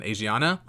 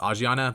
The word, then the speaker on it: Asiana: until I finally settled on Asiana um I think it's pronounced aana but that just sounds kind